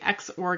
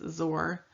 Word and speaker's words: XOR: gates we have the x or gate this is not pronounced zor it's pronounced xor we have the nand